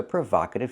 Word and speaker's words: provocative: like no and go I need the short a like hot and stop Prova provocative it was a provocative film what's the verb the verb is to provoke with the verb we use the long o sound like no and go the verb provoke means to get a reaction to get a strong reaction it provokes a reaction so I describe it and I say it's provocative not provocative but provocative example this film provoked